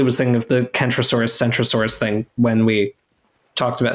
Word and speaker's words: Centrosaurus: So like we typically pronounce them differently because a C before a vowel or before an E, like in English, we often pronounce it as a soft C, right?